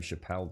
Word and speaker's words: Chappelle: i think it is yeah i'm sure it's pronounced chappelle i tell you what i've never really seen